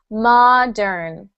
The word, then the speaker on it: modern: you H the word modern Mod Mo Mo good Mo yeah in Italian it's what modem Mo Modo Okay so we've got Mo in Italian and Ma in English yes ma modern mod